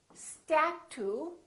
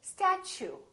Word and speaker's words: statue: We don't say statue, we say statue. Statue. So the T, U sound like ch. So it almost sounds like chew.